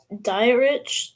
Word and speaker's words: Dietrich: Oh, it's Dietrich ends, not diet rich.